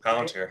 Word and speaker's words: Palantir: Okay, the Trump administration has contracted Palantir, and I'm probably not saying that right, You're saying it right, Palantir.